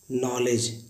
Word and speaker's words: knee: Guys आपने सुना होगा नी, नॉलेज, नाइफ। एन से पहले अगर के आए तो के साइलेंट होता है।